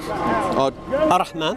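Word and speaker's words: الرحمن: Then we've got at the top there, how do I pronounce that in Arabic? Ar-Rahman. Ar-Rahman means the all merciful.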